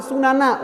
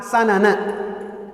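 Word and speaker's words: سنن: Walaupun di antara dua lafaz ini ada keserupaan makna, kemiripan makna sehingga dua-duanya boleh dibaca sanana atau sunana. Walaupun para ulama lebih menekankan dengan membacanya dengan fathah sanana, kalian pastinya akan mengikuti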